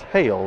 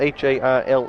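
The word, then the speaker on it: Haile: I guess Hail is how you pronounce that. It has spelled H A I L E. Guess that's just Hail as the PA announcer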